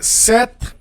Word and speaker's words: ces: And then for plural, to say those, these, we're going to use se. Pronounce se. It is written CES, okay?